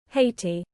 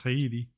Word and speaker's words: Haiti: on how do you prounce HEI hati oh my God it it actually is okay guess I'm wrong thought it was hiti like heti not I'm I'm um